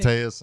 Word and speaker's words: Koteas: of the things that Elias, how do you pronounce his name? Koteas, I think. Koteas, yeah.